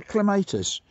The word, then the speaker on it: clematis: Look at the clematis. Clematis or clematis? Yeah. Wet. It's wet. This here is clematis or clematis. You can clematis. Pronounce either way.